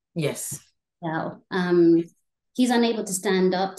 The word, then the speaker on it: Yao: So when we look at Lucy and Yao, am I pronouncing his name right? Yes. Yao.